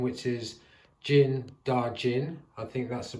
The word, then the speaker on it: Din Djarin: So, reading on the back of the box, I completely forgot his real name, which is Din Djarin. I think that's the pronunciation.